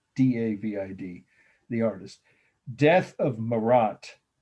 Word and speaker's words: Marat: the artist death of marat that's just like it sounds for the first word in marat the person whose dead body we're looking at is m-a-r-a-t 1793.